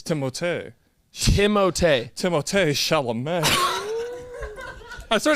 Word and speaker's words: Timothée: It's Timothée. Timothée. Timothée Chalamet. I swear to God, So I'm he not was joking. playing kickball in the streets, and they're like, Timothée! Well, it's French. I'm pretty sure it's Timothée!